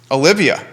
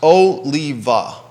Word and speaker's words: Oliva: boys and girls is olivia olivia is the uh oliva is it olivia oliva oliva i'm looking at the website it's pronounced oh lee va this business and